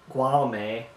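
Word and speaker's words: Guillaume: And they live with their son, Gualame, that's how you pronounce it.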